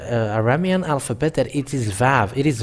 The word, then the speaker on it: Vav: So this is the Vav. And this Vav, it is pronounced as V. But it's people who change it into U and U.